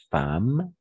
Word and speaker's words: femme: de peur que sa femme attention ne va prononcer femme que sa femme et d'accord et on va